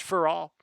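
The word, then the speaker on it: ∀: online at all and that's upside down a which is just pronounced for all you can write it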